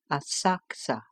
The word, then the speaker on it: Asakusa: Afterwards we went to visit the temple of Sensoji at Asakusa, spelled Asakusa, pronounced Asakusa.